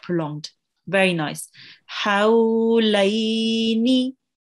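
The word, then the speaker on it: حولين: Hawlaini. Hawlaini. Very pretty. Remember that the ha, this ha, has to be pronounced from the middle of your throat.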